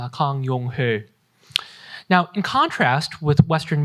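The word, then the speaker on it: 강용흘: In Korean, his name would be pronounced Kang Yong-ho.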